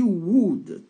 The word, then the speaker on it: would: a a éta she would take elle prendrait donc on dit pas W on prononce pas le l on prononce ici que le ou donc ça fait W